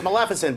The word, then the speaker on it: Maleficent: It's Maleficent, but it's so hard to not say it right.